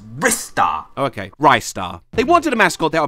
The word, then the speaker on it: Ristar: know actually cares about this what's the correct pronunciation of this star character its wrists are okay ristar they wanted a mascot there'll be a guaranteed